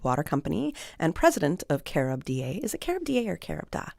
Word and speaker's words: CaribDA: Oh, we say CaribDA.